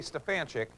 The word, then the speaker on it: Stefanchik: the proper spelling s-t-e-f-a-n-c-h-i-k so whenever I say Stefan chick I don't always get it back the way